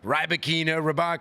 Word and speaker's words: Rybakina: Not sure I've heard a good player like her have her name mispronounced so many times. Rybakina, the umpire calls her something. I just say cleanly Rybakina. But that's the one last name you can get right.